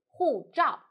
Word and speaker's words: 护照: The word of today is 护照. In this video, I will teach you how to pronounce it, how to write it, and how to use it.